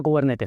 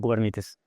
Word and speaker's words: Kubernetes: Entonces, cubernetes, primer cosa, se pronuncia cubernetes, no cubernites porque es una palabra, no sé qué.